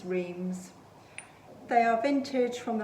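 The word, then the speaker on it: Reims: pair of candlestick holders they're by rheems i think that's how you pronounce it r e i m s rhymes rhemes they are vintage from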